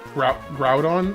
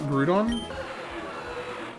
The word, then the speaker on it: Groudon: It's It's It's Groudon, not Grudon. I always thought it was Grudon. All right. If I can fit the name, I know what I'm going to call it. Groudon. Like Growl.